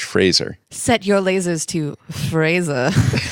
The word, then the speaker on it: Fraser: I thought it was Frasier. Yeah. No, look at how it's spelled. It's Fraser. Like the It's just Scottish like- Fraser. Encyclopedia. No, there's like- no I, so it's not Fraser. It's the Scottish Fraser.